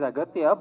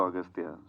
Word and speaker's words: Aghathiyaa: only no it is aatya but in the film uh your name is pronounced in different ways austa yeah in both ways it is pronounced yeah it's aatya and also austa so I don't know